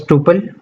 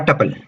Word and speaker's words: tuple: Some may pronounce it as tuple or tuple.